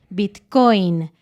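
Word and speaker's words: bitcóin: se acepta la palabra bitcoin se escribe igual que en inglés pero con una tilde o un acento en la bit coin es súper extraño pero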